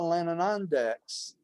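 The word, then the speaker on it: Lanonandek: So all the Verandadek and all the Lananandeks, did I pronounce that?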